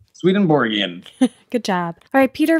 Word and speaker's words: Swedenborg: angle you're not no I'm saying it right swedenborg in good job alright Peter finds his favorite